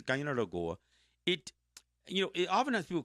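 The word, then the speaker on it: Kaianere'kó:wa: Guyana Goa, and I know that's pronounced different ways in different languages, but in Mohawk it's Guyana Goa.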